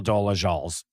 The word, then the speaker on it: Dolezal: Like you could open a car wash but but you can't not have it be Rachel Dolezal's car wash.